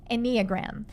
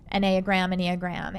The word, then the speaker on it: Enneagram: And one of the tools she uses with her employees is called the, I think I'm going to say it right, Enneagram. Enneagram.